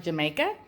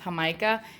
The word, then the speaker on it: Jamaica: juice looks like just like it's felt like Jamaica that is well it's pronounced how Micah it's one of my favorites at the Mexican